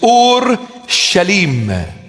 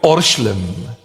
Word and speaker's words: Ur-Shalim: In Aramaic, the proper pronunciation of the word is Ur-Shalim. Ur-Shalim. And we abbreviate it and we call it Orshlim.